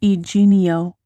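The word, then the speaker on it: Yginio: It's pronounced eenio.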